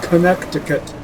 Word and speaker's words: Connecticut: Why is it spelled Connecticut, but pronounced Connecticut?